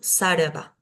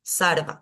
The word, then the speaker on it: sarva: pero sí rama rama ahora en el interior de una palabra va a ser una r más suave como un sarva sarva más suave eh con respecto a